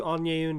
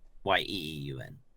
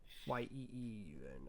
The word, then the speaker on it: Yeeun: I would give you Onyeun next because of how creative I feel she is. Yeah. Is it spelled AHNYEUN? YEEUN. YEEUN.